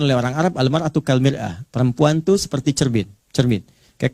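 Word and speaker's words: مرآة: Ya, kalimatnya sama, cuma cara bacanya beda. Al-mar'atu kal mir'ah. Yang satu pakai fathah, yang satu pakai kasrah.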